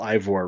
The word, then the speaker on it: Eivor: like male or female Ivor, right? Mhm. I'm wondering, Eivor. I pronounce it Ivor, first of all.